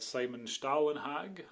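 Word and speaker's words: Simon Stålenhag: And these are by an artist called Simon Stahlenhag, I believe it's pronounced.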